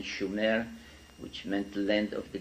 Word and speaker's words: Sumer: in in in the correct spelling and pronunciation, Schumer, which meant land of the guardians in southern Mesopotamia, which is today's Iraq.